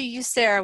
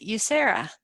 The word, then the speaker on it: USERRA: The way I remember how to pronounce this one is I say the word you, and then Sarah, like the name Sarah.